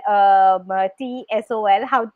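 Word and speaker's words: TESOL: She's certified in TEFL and TSOL. I mean, do you pronounce it as an abbreviation? T-Sol. T-Sol.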